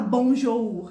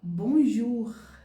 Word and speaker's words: bonjour: olha só que legal uma palavra simples Bonjour você pode perceber que a gente pronuncia a gente escreve bonjou ur mas na verdade o o com u tem som de quê De u então eu não vou falar bonjou ur eu vou falar bonjur diretamente Então a partir